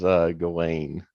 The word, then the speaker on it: Ghislaine: her name is Ghislaine, is how you pronounce it.